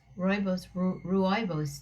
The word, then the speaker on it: Rooibos: Rooibos tea.